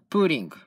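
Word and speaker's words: 볼링: する韓国ですが韓国は意外とボーリンはプーリンという発音になって意外と面白かった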